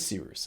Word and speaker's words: Cyrus: My name is Seeroos. It's spelled like Cyrus, pronounced like Seerooster. Just take out the ter.